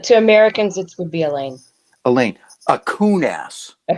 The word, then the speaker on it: Allain: correct correct correct i believe the pronunciation of your last name is elaine it is so if you're a